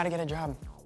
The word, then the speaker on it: Job: Teaches you how to get a job. It's pronounced Job.